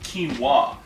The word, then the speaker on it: quinoa: says here we're gonna make uh quinoa it's pronounced quinoa it's a pseudo grain from south america it's